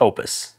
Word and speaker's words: Oupes: is legit and it's it's pronounced Opus we're calling it oops though welcome back